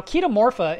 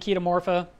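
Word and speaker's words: Chaetomorpha: are talking about running kita Morpha which is spelled like cheetah morpha and they would say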